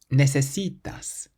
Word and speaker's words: necesitas: Necesitas, necesitas. So we stress the C, which is the syllable before last.